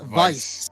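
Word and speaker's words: Vyse: slider over here vice vice if you ever play Skies of Arcadia it's like Vice yeah I'm not good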